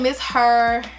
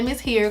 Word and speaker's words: Ms Here: Some people say Miss Her, but I say Miss Here because it's spelled H-E-R-E.